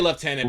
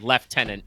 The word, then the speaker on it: lieutenant: Yes, it's written the same way, but they pronounce it left tenant in British English.